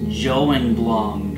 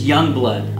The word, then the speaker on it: Jongbloed: this one was found in Youngblood it's not pronounced joing blonde or John blow it it's Youngblood I'm like 95% sure than the Aryan guys say Youngblood my fun thing that I learned that 2018